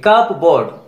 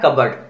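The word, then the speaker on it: cupboard: दो वर्ड्स और देखिए, कबर्ड, सी यू पी बी ओ ए आर डी, देखिए कप बोर्ड बोलते क्या है, कबर्ड, और रिसीट, यहां भी पी साइलेंट है।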